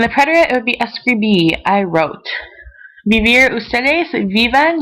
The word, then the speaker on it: escribí: that you remember that the accent is on the very last letter, on the O.